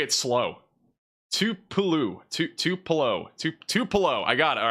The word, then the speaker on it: Tupelo: Tupelo.